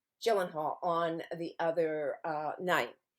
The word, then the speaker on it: Gyllenhaal: he had Jake uh is it Gillen Hall Gyllenhaal Gyllenhaal okay soft G Gyllenhaal on the other uh